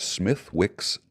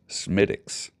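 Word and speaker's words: Smithwick's: marriage I was informed by an Irishman that Smith Wick's Irish ale is not pronounced Smithwick okay it's pronounced smiix just in case you're drinking smiix Irish ale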